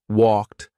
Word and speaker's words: walked: If it ends in an unvoiced consonant sound, you're going to say for Ed, this takes practice.